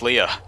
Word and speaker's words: Leia: Can we bring this back to Leia? No. Please? Do you even know Leia? yeah, Yes. she's If you did, you know it's pronounced Leah.